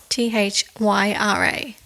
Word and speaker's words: Thyra: be called Sally so I think it's spelled thyra t-h-y-r-a thyra thyra thyroid but we're going to